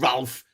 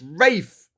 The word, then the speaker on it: Ralph: Is it not Ralph Fiennes? No, it's not Ralph. Ralph, I don't call it Ralph. It's Rafe.